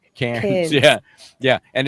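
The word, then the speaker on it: Cairns: Cans. Cans. Yeah. Yeah. And it sounds to us uh, you know, American types like cans, like cn nees, you know, in France.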